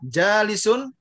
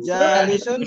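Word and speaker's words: جالس: Sekarang dipikir dulu mana yang panjang itu? Di sini yang panjang ini. Ja-nya. Terus yang panjang lagi wa-nya. Ya enggak? Jadi nanti bacanya jalisun waqifun.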